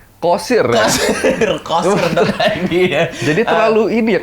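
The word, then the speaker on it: Qasir: Kan pakai Q bukan pakai K. Jadi bacanya Kosir.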